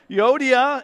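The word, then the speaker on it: Euodia: all week and I'm might get it right Yoda and sinaki that's how it's pronounced I plead with you I plead with where was I I plead with Yoda and I plead with sinaki to be of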